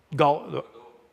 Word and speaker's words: Godot: Godot. It's a free. Yeah, it's spelled G-O-D-O-T. Geo? G-O-D-O-T. So it's a free open Godot.